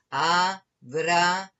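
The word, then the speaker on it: אברהם: Y la siguiente palabra, ahí tenemos la sheva en la segunda letra. Así que juntamos, como podemos juntar la bet con la resh, el sonido va a ser Abraham. Abraham.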